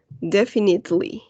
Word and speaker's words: definitely: Because here this E, right, the second E, is not going to sound. La segunda E no va a sonar. Definitely.